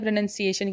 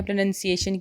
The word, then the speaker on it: pronunciation: PRONUNCIATION, ये होती है प्रोनाउंसिएशन की स्पेलिंग, और इसे हम प्रोनाउंसिएशन बोलते हैं। बहुत सारे लोग इसको प्रोनाउंसिएशन भी कहते हैं, लेकिन प्रोनाउंसिएशन नहीं होता है, प्रोनाउंसिएशन होता है।